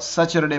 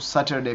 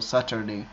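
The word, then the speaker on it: Saturday: ये बाज़ लोग सैटरडे प्रोनाउंस करते हैं, वो गलत है, ठीक है। तो आप इसको सैटरडे प्रोनाउंस करो, सैटरडे, ठीक है।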